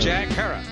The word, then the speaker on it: Herer: He likes to say it rhymes with terror. Jack Herer.